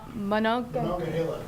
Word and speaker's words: Monongahela: Moments ago, did we get a pronunciation? Monongahela.